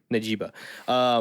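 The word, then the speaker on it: Njigba: Najiba.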